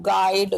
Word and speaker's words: guide: गाइड, यू का कोई अर्थ नहीं है इसमें, यू का प्रोनाउंस करने में साउंड नहीं आ रही है